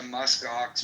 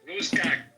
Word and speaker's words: musk ox: And I'm going to start a musk ox milking business. Oh, Is God. your CEO? Once America takes over Greenland, me and Andrew are gonna partner up. But you would pronounce it Muskox. You said Muskok.